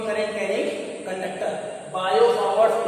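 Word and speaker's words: Biot–Savart: कि Biot सावर्ट्स लॉ है, यहाँ पे साइलेंट है, बायो सावर्ट्स लॉ, ठीक है।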